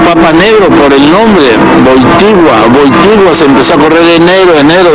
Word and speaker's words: Wojtyła: había aceptado ser Juan Pablo II le dijo Wojtyła en polaco. Por eso cuando se asoma y dice Dominum Karol Wojtyła, la gente empezó a creer que era un papa negro por el nombre Wojtyła se empezó a correr enero desde aquí, desde